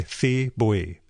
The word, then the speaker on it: Thi Bui: And last, The Best We Could Do, a graphic novel by Thi Bui. I apologize for mispronouncing that.